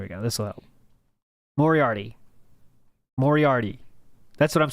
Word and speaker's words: Moriarty: I'm probably pronouncing that wrong. Morarity. Phil is so intelligent that he literally playing 10-dimensional chess. 10D chess. 10D chess. Moriarty. Moriarty. Moriarty. Moriarty. Moriarty. Moriarty. Moriarty. Now we know it.